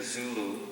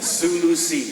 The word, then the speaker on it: Sulu: question involves the character zulu and uh there's so much it's pronounced the sulu look at the map right near the philippines s-u-l-u zulu is africa the zoo tribe lean